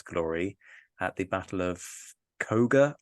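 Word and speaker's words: Køge: at the Battle of Koga. I've probably mispronounced that horribly. I believe, and if there's any Danish people there, please correct me, but I think it may be Koja.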